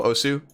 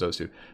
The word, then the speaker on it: osu: Something like OS, you know Osu? It's pronounced OS, but most people know it as Osu.